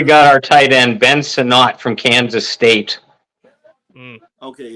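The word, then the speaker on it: Sinnott: when here we got our tight end Ben sonat from Kansas State okay it's sonat all right because this is my comic book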